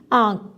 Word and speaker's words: آنکھ: مثال کے طور پر ہم نے مثالوں میں بھی دیکھا ہے آنکھ، یہاں پر نون ہم نہیں پڑھیں گے، اس کی صرف آواز آئے گی آنکھ۔ اونٹ، اونٹ، یہاں آپ